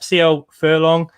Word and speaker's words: CLFurlong: CLFurlong.